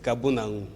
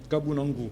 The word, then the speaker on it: Kabunangu: Si vous voulez bien prononcer comme vous m'aviez interpellé tout à l'heure, c'est Kabunangu. Kabunangu.